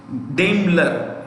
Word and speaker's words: Daimler: Daimler.